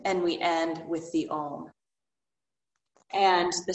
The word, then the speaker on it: Om: we end with the ohm and the sound um it's often spelled om but it's actually the pronunciation like phonically spelled would be a u m so it's ah and